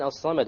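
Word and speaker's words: الصمد: Okay, the lam in As-Samad, why did we not pronounce it? Solar. It's a solar letter. The sad is a solar letter, which means we drop the lam when we have the alif lam there.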